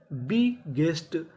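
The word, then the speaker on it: biggest: अगला नियम हमारा यह है कि अगर कोई अक्षर एक साथ दो बार लिखा है, तो हम उसका उच्चारण खाली एक बार करते हैं।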